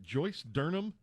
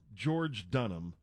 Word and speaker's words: George Dunham: Is it Joyce Durham? No, it's George Dunham.